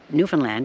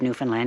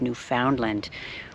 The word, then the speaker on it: Newfoundland: A couple of little tidbits he shared with me regarding Newfoundland. He asked me, you know, how to pronounce the place I am, and I said Newfoundland.